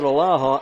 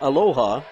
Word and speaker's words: Aloha: table rock sports broadcast tualatin at alaha aloha tried to put an extra syllable on that didn't i sheldon and newberg liberty